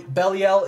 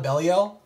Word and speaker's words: Belial: very fitting for sure so beliel is wrong like i call it bellio and i have kept on calling it that and you're gonna see some videos with me still calling it belly out because that was the way that i like to think of the name